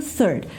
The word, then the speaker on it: third: Então, vocês vão ter o first, o second e o third. Confere aqui como é que ele escreve, ó. First, second e third. Third, presta atenção na pronúncia do third, que começa com o TH, né?